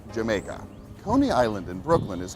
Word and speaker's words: Jamaica: The Dutch pronounced the letter J as a Y, so when the English saw the word spelt with a J, they assumed it was pronounced Jamaica.